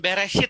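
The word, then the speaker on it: בראשית: rada aneh gitu ya ya bacanya itu adalah beres hit Hai Bara Elohim Hai FH main BF haaretz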